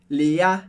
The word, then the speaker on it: Léa: estou exagerando, é que a sílaba forte do francês, como regra geral, é a última. Por isso a gente não fala Léa, mas sempre Léa. Léa é o final da palavra, que é a parte mais forte.